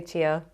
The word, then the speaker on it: chia: I'm gonna have some chia seeds these are amazing some people pronounce some chia I say tier just because I've always said that and basically these are